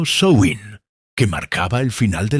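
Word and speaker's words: Samhain: 31 de octubre una festividad llamada Samin, pronunciado Soin, que marcaba el final de la cosecha y el inicio del invierno.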